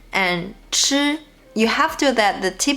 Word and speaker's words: 吃: Also remember, because 吃 is aspirated and 知 is not. So when you pronounce 吃, the airflow should be stronger.